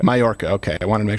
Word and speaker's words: Mallorca: the Mediterranean island of uh how do you pronounce this here Lane Mallorca Mallorca okay I wanted to make sure I was